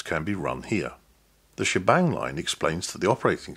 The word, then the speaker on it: shebang: The combination of the sharp sign and the exclamation mark, sometimes pronounced bang, is pronounced together, she bang.